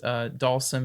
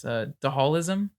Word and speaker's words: Dhalsim: whoops I had a I had an elementary school friend who pronounced dhalsim and Street Fighter is the hall ism that's good call ISM yeah and it call seem